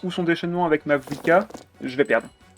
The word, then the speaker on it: Mavuika: En fait, au moment où elle va refaire sa compétence ou son déchaînement avec ma Vuika, je vais perdre. Et sa prononciation Jab, c'est ma Wika.